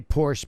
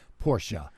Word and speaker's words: Porsche: People like to say Porsche because they think it's cool. Yeah. But the actual pronounce, the actual pronunciation of it and what they use in their commercials is Porsche.